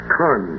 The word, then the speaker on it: Con: Now C pronounced in phonetic alphabet Khan.